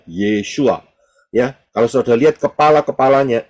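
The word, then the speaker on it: ישוע: paling kiri adalah Ayin Yod Shin W Ayin itu bacanya yesua Ya kalau saudara lihat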